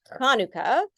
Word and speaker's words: Hanukkah: a normal huh sound also the sound is really hard for people to pronounce so if you want to get close you can just say it as a huh so hanuka so pretty uh pretty